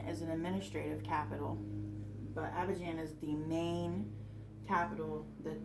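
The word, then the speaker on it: Abidjan: first is the main capital and um it's pronounced Aban and then the second is an administrative Capital but Aban is the main capital that they use if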